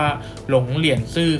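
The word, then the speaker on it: 龍蓮寺: ใน ยี่ นะ ครับ ถ้า ออก เป็น ภาษา จีน กลาง ก็ จะ ออก เสียง ว่า ลง เรียน ซื่อ ครับ สร้าง ขึ้น ใน รัชกาล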